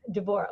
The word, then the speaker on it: Devorah: I've been instructing Isabel on my name, Devorah, which is the Hebrew pronunciation, which is why it's not the natural pronunciation for Westerners.